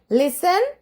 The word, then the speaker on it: listen: മക്കളെ വീണ്ടും പറയാണ്, അവിടെ ആ ടി മിണ്ടാണ്ടിരിക്കുകയാണ്. അതിനെ പോയി ആരും തൊടണ്ട, ശബ്ദം ഉണ്ടാക്കിക്കും വേണ്ട. അത് അവിടെ സൈലന്റ് ആയിട്ട് ഇരുന്നോളും. Okay, ലിസൺ, ലിസൺ, LISTEN, ലിസ്റ്റൻ എന്നാണ് എഴുതുക. പക്ഷെ നമ്മൾ വായിക്കുക ലിസൺ.